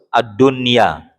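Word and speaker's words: الدنيا: Ad-dunya, satu kata tuh. Bukan ad-dun ya. Nah, bukan. Kalau kayak gitu berarti 2 kata.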